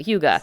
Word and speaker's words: hygge: I know none of us really knew how to say it, but hygge.